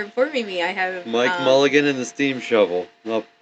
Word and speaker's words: Mulligan: Yeah, Mulligan.